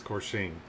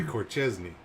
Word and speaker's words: Corsaine: that's how you say it's corsaine see i always want to say corchestny it's corsain you got to remember yeah